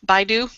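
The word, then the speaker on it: BeiDou: their 20th uh you told me how to pronounce this I'm going to go with BYU that's right the BYU satellite their 20th one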